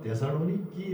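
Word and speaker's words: Θεσσαλονίκη: 그쪽 사람도 발음이 뭐 데살로니키, 뭐 필리키 이렇게 발음을 해요.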